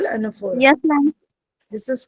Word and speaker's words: anaphora: So this is called anaphora. Yes, ma'am. This is called what is it called बेटा? anaphora. ये लिखते an है पर हम उसको बोलते un. प्रोनाउंसिएशन में un आता है.